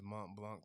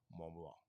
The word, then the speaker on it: Mont Blanc: if I ever get my hands on this Mont Blanc tablet, oh jeez, I'm definitely gonna get a top hat to do that review. Because it requires a top hat. And I gotta say like Mont Blanc.